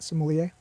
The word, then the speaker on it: sommelier: am oh yeah yeah that word sommelier sommelier right the r is silent sommelier yeah okay there you